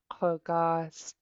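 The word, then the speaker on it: kugás': Kogas. Kogas. Kogas. Good. This underlying K is pronounced in the back of your throat.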